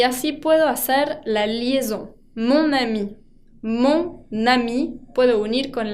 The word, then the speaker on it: mon ami: Mon ami. Mon ami puedo unir con la N y así me queda más fluida la pronunciación. En vez de ma ami, digo mon ami.